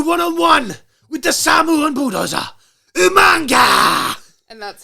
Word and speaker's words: Umaga: I love that you say it properly both times in the intro and the outro. I had to question myself because I used to go Yamunga. Yeah, like I sounded more British.